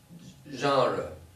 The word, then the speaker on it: genre: do you Sayre that's it's a French word gender is a different word completely how do you pronounce it it's genre really yes the first time